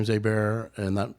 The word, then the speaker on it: Aber: Yeah, it's pronounced Abear. Abear. Aar. My bad. I'm sorry. God damn. I'll restart the podcast now, Um, podcast starts now. Um, yeah. Abear or Abber, we'll tell you the one. Okay. A Bear. Abear is the stage pronunciation.